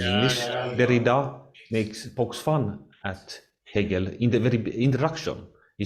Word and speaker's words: Hegel: Derrida pokes fun at Hegel in the very introduction. He says that some French pronounced like eagle, like a frozen eagle.